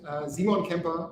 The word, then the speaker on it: Simon Kemper: that's me yeah simon simon kemper that's how you pronounce it in german i always pronounce it english way i am the ceo